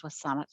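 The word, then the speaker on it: W̱SÁNEĆ: of my riding and saanich is actually a mispronunciation of the name of the indigenous peoples on whose territory i live which is wasan and i raise my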